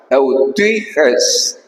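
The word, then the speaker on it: εὐτυχής: Después acá, eutuiges. Fíjate la pronunciación. Eutuiges es un poco I-U.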